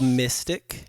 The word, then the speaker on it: MY5TC: But it's like MY5TC, right? But it's pronounced mystic, and because we're into mysticism, and we're mystics, and yeah, man, got a new project.